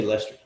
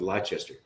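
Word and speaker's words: Leicester: sue hertzman's who you know why do you pronounce it that why do you why do you say lester what's wrong with lychester what's up with you guys aluminum router let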